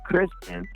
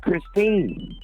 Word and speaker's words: Christine: You kept saying Kristen, and her name's Christine.